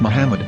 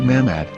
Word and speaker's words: Muhammad: yaha's Hebrew English dictionary it is correctly pronounced as Muhammad not mammad so how we're going